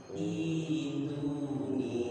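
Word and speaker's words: ائتوني: Kalau sambung dengan fis samawat aman. Fis samawati tuni, bacanya gitu, udah aman, nggak ada masalah. Tapi kalau fis samawat berhenti, ya, maka bacanya di situ Bapak semua. Tolong diingat, kalau boleh dicatat juga boleh. Bacanya di situ ituni.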